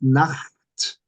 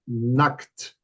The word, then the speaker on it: Nacht: Now, if you don't pronounce it Nacht, you're going to be saying Nackt.